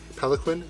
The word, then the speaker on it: palanquin: on the pallet Quinn Peloquin that's how you pronounce the palanquin suit and yeah I